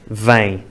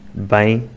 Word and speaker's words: vem: é o som correto as palavras vem e bem são diferentes mas no norte ficam iguais bem bem os destaques das